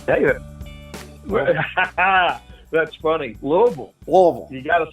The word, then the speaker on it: Louisville: you got a blue you got to fill up your your mouth with air little bill and it comes it comes right on down it does hey by